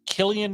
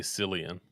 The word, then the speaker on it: Cillian: let me ask you do you pronounce it Killian Murphy or silly and Murphy because I've heard both uh I I say sillian yeah that's typically what I what I say but I've heard Killian um Emily Blunt Cillian